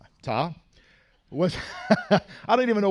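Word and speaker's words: Ptah: composite which he is the only one ta pronounced ta what I don't even know why I'm gonna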